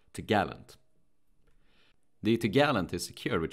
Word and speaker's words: topgallant: It is pronounced topgallant.